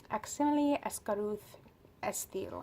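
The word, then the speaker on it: Aximili-Esgarrouth-Isthill: Aximili Escaruth Estil, I believe is how you say his full name, and he's an Andalite, and his brother is the one who gave the kids this morphing technology.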